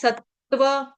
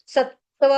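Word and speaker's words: सत्त्व: उसके बाद आ जाएगा सत्व सत्व डबल त दो त है आधे-आधे दो त है आधे-आधे सत्व ठीक निरधो ओ या सॉरी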